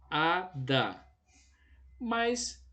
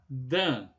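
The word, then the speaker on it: אדם: tem uma pronúncia enfática então vamos ver de novo aqui com essas três consoantes será então a palavra a adam ver comigo a adam e adam na sua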